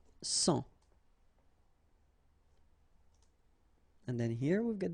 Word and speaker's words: sang: Un sang. Okay, remember this G here doesn't exist, so un sang.